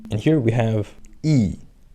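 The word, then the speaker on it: ㅣ: And here we have E. E looks like what? Looks like English alphabet I, right? And it's pronounced more or less the same.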